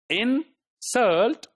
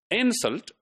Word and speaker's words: insult: So insult, when the stress is on the second syllable, insult, right? So that's a verb. And if I'm just to make it a noun, insult, right? So now the stress is on the first syllable.